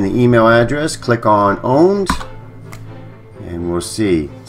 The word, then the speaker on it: Pwned: So the website that I'm going to take you is Have I Been Owned? And here we are. And it is spelled with a P, but it is pronounced owned.